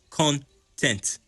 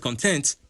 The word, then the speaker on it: content: 2 syllables. Content. Not content, content.